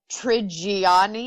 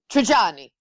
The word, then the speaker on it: Trigiani: And when I do it, I say Adriana Trigiani. I put way too many syllables in it. And when she says it, she's like, Trigiani.